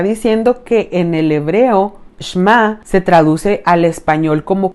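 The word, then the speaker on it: שמע: Se pronuncia Shema y a menudo se traduce como escuchar.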